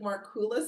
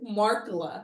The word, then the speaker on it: Markkula: We found out probably in previous videos we pronounced it Markkula Center. That is absolutely incorrect. It's Markkula.